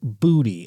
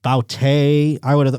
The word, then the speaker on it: Boutte: His name is Booty, and it's spelled Boutte. So I would have thought Boute. But it is pronounced Booty, turns out.